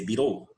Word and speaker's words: bureau: Se escreve boreal, mas se lê bureau.